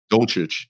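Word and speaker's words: Dulcich: How you pronounce his name? Dolchich, sorry.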